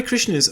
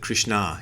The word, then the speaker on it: Krishna: the of the Hare Krishna movement, the guy who founded the thing, and he always pronounces it Krishna. He puts the accent on the na, so maybe that's the proper way to pronounce it instead of Krishna.